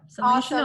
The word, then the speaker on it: Seline Shenoy: So our guest today, amazing guest, is Seline Shenoy, right? Do I pronounce right? That's right. Yep. Seline Shenoy.